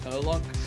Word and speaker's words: Herlock: I believe you'll find it's pronounced Herlock.